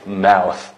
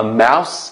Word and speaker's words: mouth: And about mouth, bilen, my mouse, anna desan, okşumaydı. Mouth, ahir T-H, telaffuz qilinsa, ayan bilsa, s, telaffuz qilingan gap.